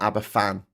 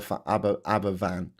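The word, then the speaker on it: Aberafan: F is pronounced like V v. Thank you very much. V. Um, so it's aban, not abbafan. Okay, got it. I get it. Aba Abberavan.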